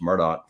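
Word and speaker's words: Murdaugh: a Murdoch or Murdoch however you want to pronounce it um it's Murdoch frankly but this is not a Murdoch podcast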